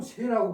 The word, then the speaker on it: 說: 요 글자가 설이라고 발음이 될 적에는 말하다. 그 다음에 열이라고 발음될 적에는 기쁘다. 지금 여기처럼 새라고 발음될 적에는 유세하다, 설득하다 그런 뜻으로 되죠.